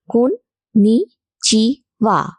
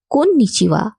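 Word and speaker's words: こんにちは: নমস্কারকে জাপানি ভাষায় বলা হয় কোন নিচিয়া আমার সাথে বলুন কোন নিচিয়া কোন নিচিয়া কন্নিচেওয়া মূলত সকালের পর থেকে সন্ধ্যের আগে পর্যন্ত বলা হয়।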